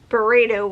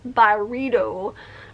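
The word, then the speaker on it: Byredo: then similar to and I thought this was burrito was how you pronounce it but apparently it's byrido brand um Mojave ghost which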